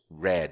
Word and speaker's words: read: a pronúncia aqui pronounced Red como se fosse a cor vermelha né a pronúncia do passado e do particípio do verbo ler é igualzinho a cor vermelha tanto é que se